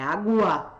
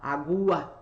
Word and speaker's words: água: Eu não falo, eu vou ali tomar uma água, é água, água. O U é pronunciado, aí eu não tenho dígrafo.